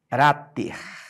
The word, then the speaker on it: caráter: aqui está ó k caráter caráter observa por favor que a sílaba tônica é a penúltima sílaba terminou em R é acentuado tudo bem Depois eu